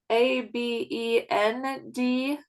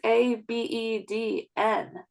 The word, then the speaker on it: Abednego: I say Abend. It's Abedn. Like I say a bend, and it's a Oh. bed. Go.